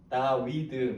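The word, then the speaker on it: דוד: 14의 발음 한 가지가 다비드입니다. 데이비드. 예. 그래서 14가 되거든요. 그래서 4, 6, 4 찾아보면 될 거예요. 비슷한 그림 찾아보세요. 왼쪽 위에서 제가 자음 이름은 말하지 않을 거예요. 왼쪽 위에서 네 번째 4, 그 두 칸 밑에 6, 다시 올라와서 4, 다위드 뭐 이렇게 발음이 되는 14입니다.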